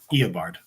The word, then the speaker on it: Eobard: Not So Super says, I still know how to pronounce Eobard. That's it. Eobard.